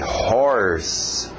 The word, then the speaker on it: horse: Forte no seu R, horse, horse, horse. Curiosamente usa horse, só uma dica extra, outra escrita, mas a mesma pronúncia, horse para rouco.